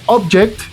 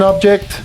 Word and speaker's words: object: Cuando nosotros lo pronunciamos como object, estamos hablando de un noun, un sustantivo. Entonces, un object es un objeto, lo que sea. This is an object, this is an object, these are all objects. Pero cuando nosotros cambiamos el acento a la última sílaba, se vuelve object, que significa objetar, como en los juicios, ¿no?